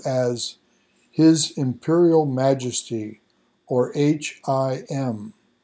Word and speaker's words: HIM: his Imperial Majesty or h-i-m and that's pronounced him and believed to still